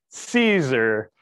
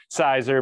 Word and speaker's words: Siser: do say it, because phonetically it does look like, it would be said as sizer but.